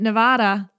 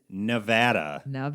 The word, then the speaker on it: Nevada: still in his Instagram videos he's calling it Nevada and it's bothering me I know you called you called him out for it and not only him but other people who call it Nevada right it is Nevada is the correct way to pronounce our state's